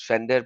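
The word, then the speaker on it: Pfander: His channel is P Fender, or you can pronounce it as Fender. P is silent, so I always say P Fender because so that people will understand that there is a P, so that they could find him properly.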